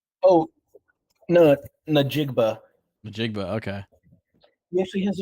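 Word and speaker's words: Smith-Njigba: Jackson Smith Nigba? Oh, no, Najigba.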